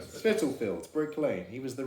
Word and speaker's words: Spitalfields: He was in um How do you pronounce this? Spitalfields? Spitalfields. Spitalfields, Brick Lane.